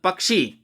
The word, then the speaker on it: पक्षी: पक्षी, तो ई का स्वर दीर्घ और पक्षीगण, तो अपने आप दबाव कम होगा, शब्द सुनिए पक्षीराज।